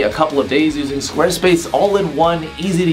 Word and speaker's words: Squarespace: sponsor of this video Squarespace squad ace Posse is not how you pronounce that whether you experienced web